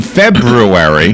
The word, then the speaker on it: February: Then in February, which is how you pronounce the name of the month, by the way. I know, you don't forget the R. February. Like, put a brew in there.